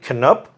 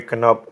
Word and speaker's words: Canup: Canup.